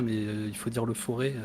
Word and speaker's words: Forez: Alors moi je dis le Forez parce que je suis auvergnat, mais il faut dire le Forêt. Normalement on prononce pas le Z.